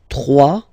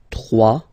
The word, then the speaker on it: trois: Trois. Final s not pronounced. Trois.